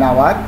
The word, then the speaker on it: hour: an hour, H silent, an honest, here is